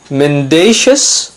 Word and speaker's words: mendacious: not mendacity its mendacity remember in both the cases we have the stress on the second syllable mendacious mendacity mendacious mendacity exonerate notice the stress